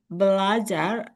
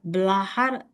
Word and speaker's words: belajar: I understand that maybe you are influenced by a little bit of Spanish. When you say belajar, I hear belahar is with H rather than Z.